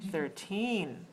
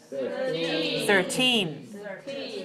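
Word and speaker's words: thirteen: it's 13. stress the second syllable please let me hear you say that beautifully 13.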